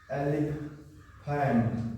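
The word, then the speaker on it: elephant: हम लिख जाते है तो फ का उच्चारण होता है ठीक है जैसे होता है अलि FAME E एल ई पी एच ए एन टी इसका उचार करेंगे एलीफेंट एलीफेंट यह फॉम है और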